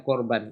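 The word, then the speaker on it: קרבן: kata karf itu muncul kata Tapi bacanya korban ini ya ini ini bukan anu ya ini kam ya BAC korban karena ada aturannya ya namanya itu dia bentuknya seperti kam Ya tapi ini kam sat ini muncul di dalam suku kata tertutup yang tidak mendapat tekanan begitu teorinya ya ya jadi Daripada pusing udah baca aja korban ya tulisannya memang begini bacanya korban korban itu dari sores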